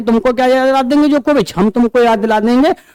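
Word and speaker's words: Djokovic: बाकी तीनों में नोवाक जोकोविच, नोवाक डी साइलेंट है, नोवाक जोकोविच, और लास्ट में इसमें क्या है?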